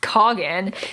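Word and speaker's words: Khagan: And so right away when the Coggin, yes, it's pronounced Coggin.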